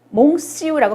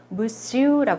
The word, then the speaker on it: monsieur: 요거 모음 플러스 n이지만 옹으로 발음하지 않아요. 몽시우라고 발음하지 않습니다. 무시우라고 합니다.